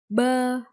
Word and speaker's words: bơ: Bờ, bờ, bơ.